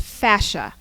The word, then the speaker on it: fascia: technique which emphasizes this photo this is C pronounced fascia and you can see evidence of fascia all